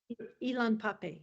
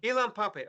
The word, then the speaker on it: Ilan Pappé: I got the name wrong. What was it? Ilan Pappé. Ilan Pappé.